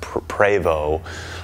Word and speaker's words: Prevost: the company's you know technically pronounced pravo or calling it Prevost I haven't decided what I'm gonna whether I'm gonna pronounce it properly or not but what we're gonna